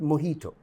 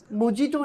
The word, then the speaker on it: mojito: For absolutely no reason, the J is silent.